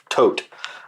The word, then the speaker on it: Todt: Todt.